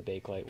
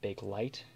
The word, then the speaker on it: Bakelite: to make um when bakelit was invented and actually i should mention here that it is actually pronounced bakelit um though due to its spelling a lot of people pronounce it bake light and i kind of